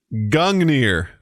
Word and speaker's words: Gungnir: It is Gungnir.